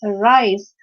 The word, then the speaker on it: arise: use so for example when you pronounce the word arise so a is getting very less force of air to pronounce earth but rice r requires more stress because arise so uh the word arise it's very clear that this is a two-syllable word a rice because itself